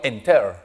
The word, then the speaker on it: enter: Yo no digo enter, digo enter. Mayor fuerza de voz delante. Enter, no dupliques nada y agregas ed.